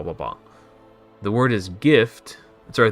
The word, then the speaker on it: GIF: The word is gift. Sorry, the word gift is the closest word to GIF, and it has a hard G. To pronounce GIF, just say gift without the T.